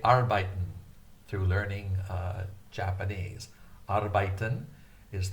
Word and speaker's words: arbeiten: I learned how to say arbeiten through learning Japanese. Arbeiten is the German word meaning work. In Japanese, it's pronounced arubaito, arubaito, arubaito.